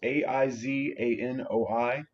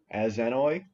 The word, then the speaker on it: Aizanoi: This one's kind of hard to pronounce. It's Aizanoi, Aizanoi.